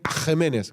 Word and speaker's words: Aquemenes: fue un rey llamado Aquemenes. Los puristas me dirían Agemenes, que así se pronuncia originalmente.